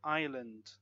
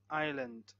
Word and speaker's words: island: psychology and psycho silent is in words like island island debris an Isle Isle silent words like listen